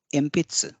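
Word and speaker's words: えんぴつ: एम्पित्स, pencil. यहाँ पे गौर कीजिए कि एनपित्सु को एम्पित्सु बोला जाता है ताकि उच्चारण में आसानी हो, इसलिए यहाँ पे एनपित्सु को एम्पित्स कहा जाता है।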